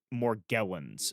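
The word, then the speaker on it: Morgellons: And I think I sorry I I think I'm I think I'm pronouncing it wrong. I think it's morgllins. I think um m o r g e l l o ns if anybody wants to wants to Google this.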